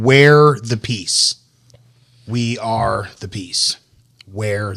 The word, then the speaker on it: Wear the Peace: The company is called Wear the Peace. We are the peace. Wear the peace. Okay. But it's spelled W-E-A-R.